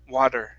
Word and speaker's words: water: water it's wad okay treat the d like an r sound like a spanish r like mari maria wad water maria water try that water okay almost uh so think of an r think of a spanish r sound in the middle of the of the word almost almost so you